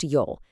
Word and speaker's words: 由: That's pronounced Yol.